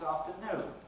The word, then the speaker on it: afternoon: I'll talk to you about it this afternoon. Now, if we take the word afternoon, the primary lexical stress is on the last syllable, on the noon.